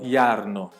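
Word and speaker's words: Jarno: Ele escreve com j, então iarno, só que a pronúncia então é com i.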